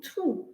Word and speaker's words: through: a bad time so again here g has no value through okay it's a very